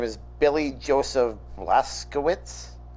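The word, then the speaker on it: Blazkowicz: series yeah and his name is Billy Joseph blaskowitz how does a stick with Billy but thank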